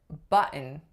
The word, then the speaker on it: button: So if you have mountain, mountain, or Clinton, Clinton, or button, button, those are all glottal stops followed by an N sound.